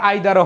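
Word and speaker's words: either: আসো বলো ইদার অর, এটা ইদার উচ্চারণও হয় আবার আইদারও হয়, যার যেটা ভালো লাগে, ঠিক আছে?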